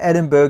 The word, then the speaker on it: Edinburgh: I like to call it Edinburgh to help me memorize that it's like an iceberg.